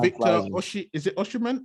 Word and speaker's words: Osimhen: Is it Oshiman? How do you say his name? Oshiman, the striker, 23 Yeah, years old, Osimhen.